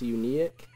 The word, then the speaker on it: Uniek: I just wanted to point out it's Uniek. It is U N I E.